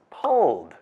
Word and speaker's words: pulled: It's pulled, since pull ends with l, a voiceless sound.